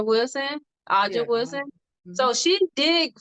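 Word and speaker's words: A'ja: Tell me if I'm pronouncing her name right. Aja Wilson. Aja Yeah.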